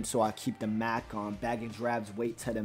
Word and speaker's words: Macon: and it's spelled M-A-C-O-N. A lot of people call me Macon because they think of bacon. Because my name is spelled very similar to bacon. But it's Macon. But if you break that